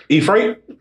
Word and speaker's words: Ephrathah: Yep, Ephrathah.